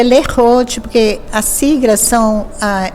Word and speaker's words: Lerote: ruim a gente pronuncia lerote porque a sigla são é a primeira sílaba do nome das três irmãs que então é Lenise ou de Rosângela e o te então a gente pronuncia Lee Roth como é que surgiu